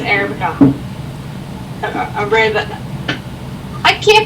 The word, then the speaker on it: Arabica: But he's laughing at me because I said Arabic instead of Arabica.